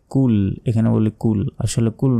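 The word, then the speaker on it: قُلْ: ভুল বলি বলি যে কুল এখানে বলি কুল আসলে কুল নয় এখানে বলতে হবে কুল কুল কখন হবে যখন কফের জায়গায় কাফ থাকবে তখন এখানে আছে কফ তাহলে মোটা করে উচ্চারণ হবে শক্তভাবে কফ লাম পেশ উল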